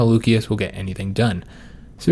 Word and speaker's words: Lucius: Apparently the C is always pronounced like with the the K sound. So Lucius is actually Lucius.